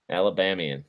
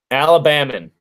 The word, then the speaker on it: Alabamian: An Alabamian. Alabamian. That's right. Not an Alabaman.